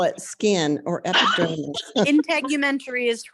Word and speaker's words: integumentary: I never know how to pronounce it either. You said it. Call it skin or epidermis. Integumentary is correct.